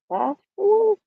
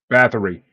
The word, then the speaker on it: Báthory: Well, tonight we are talking about the Blood Countess herself, Elizabeth Bashford. I can't pronounce her name right anyways. Bathory.